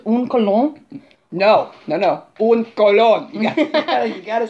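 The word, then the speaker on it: un colón: Un Colon.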